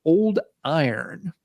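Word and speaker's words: Yron: doom metal this time a band called old iron it's spelled y-r-o-n but i guess that is like the medieval spelling or something for iron um interesting yeah this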